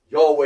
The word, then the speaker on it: Yahweh: Yahweh is 2 syllables.